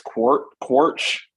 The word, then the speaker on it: Quaritch: Stephen Lang returns as, how do you pronounce Quaritch? I think it's Quaritch.